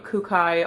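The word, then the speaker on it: Kookai: after this dress that I'm wearing is from kukai Australia it's spelled k-o-o-k-a-i I love their clothes I love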